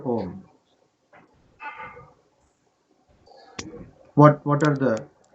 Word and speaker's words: Om: Om or the letter Om. What what are the what are the syllables of Om? A U and M.